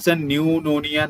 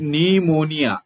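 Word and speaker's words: pneumonia: तर हे कदाचित त्याच न्यूमोनिया नाही आहे कारण इट कॅन be treated home chief cause of निमोनिया हा पी सायलेंट असतो बरं निमोनिया मध्ये पी सायलेंट असतो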